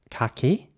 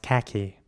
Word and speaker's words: khaki: In British English, this would be pronounced khaki. And in American English, this would be pronounced khaki. So again, the A in British English is pronounced R, so khaki. And in American English, khaki with an A.